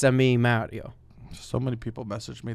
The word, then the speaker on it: Mario: So we're the clip we put out where I talk about the Mario characters, and everyone is just commenting that I pronounced it wrong.